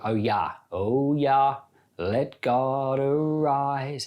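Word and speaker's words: Jah: type in oh yeah yeah is spelled j-a-h j has got the Y sound and um you know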